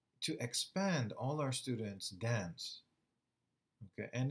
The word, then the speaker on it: DAN: It's pronounced DAN, and it stands for Dynamic Acquisition Equilibrium Network.